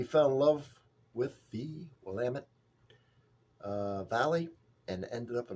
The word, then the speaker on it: Willamette: Willamette. It rhymes with damn it. So if people can't do it, it's Willamette, damn it.